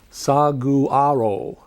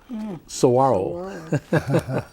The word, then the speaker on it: saguaro: time to figure out how to pronounce saguaro saguaro it's not sagu the g's here are w's and if you drive